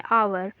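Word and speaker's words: hour: उसे होता है क्योंकि जो ह है हमारा ये साइलेंट होता है तो इसको हम क्या बोलते हैं ए से शुरू करते हैं अवर तो इसमें देखिए सी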